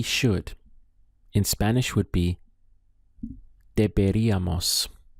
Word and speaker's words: deberíamos: Let's go through the syllables. We have de, be, deberíamos. Deberíamos. Notice we have the accent over the I. This is where we place our stress on the word, on the pronunciation.